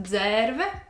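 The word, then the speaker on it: Dzērve: So this is the, in quotes, word is my last name in Latvian, only it is missing like this little line above the E, so it is pronounced Dzerve, which means crane. So in Latvian, Dzerve is crane.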